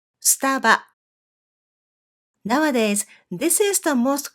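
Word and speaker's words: スタバ: But since then, they have come up with the shorter version of the name by picking up these 3 syllables, and they call it Staba. Staba.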